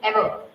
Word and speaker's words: ever: So the right option is ever it's not ever it's the pronunciation is ever the words ending with R the R sound should not be highlighted because R is called as a retroflex whenever it is at the end of the word.